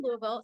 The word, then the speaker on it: Louisville: right I always try I always feel silly when I try to say that but I think it's like say it like you've been drinking bourbon which there's a chance